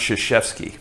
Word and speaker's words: Krzyzewski: And the guy goes, it's pronounced Krzyzewski.